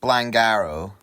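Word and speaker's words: Blaengarw: This is a First South Wales 72 and 73 timetable from Bridge End to Blangar. Quick 3 minutes worth of Googling tells me that it's apparently pronounced Blangarrow.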